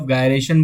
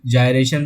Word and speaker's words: gyration: Radius of गायरेशन बोलो, कोई कोई जायरेशन भी बोलता है, अपने अपने प्रोनाउंसिएशन के ऊपर है बच्चों, बोलते जो आपको ठीक लगे वो आप इसको बोल सकते हो।